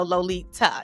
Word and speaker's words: Lolita: i tell folks that my name is lolita with a t like pronounce the t so lolita and i'll write it